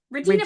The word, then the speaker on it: Regina: Regina. Really, it means Queen Regina. Yes, I know, that's why it's called that. Yes, Queen. After yes, Queen Regina. Victoria. And it rhymes with vagina, which is fucking hilarious.